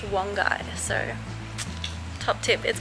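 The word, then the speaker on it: Wangi Falls: a little bit silly and broken because like wangy falls is such a thing just sounds like australian and bogan when it's actually pronounced one guy so top tip is called wongai falls not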